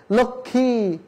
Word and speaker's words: লক্ষ্মী: যক্ষা, লক্ষ্মী, লক্ষণ, এই জায়গাতে যুক্ত ব্যঞ্জনের সাথে ম ফলা থাকার কারণে কোথাও ম ফলা উচ্চারণ হয়নি, কিন্তু সব জায়গাতেই চন্দ্রবিন্দু চাঁদ দেওয়া হয়েছে।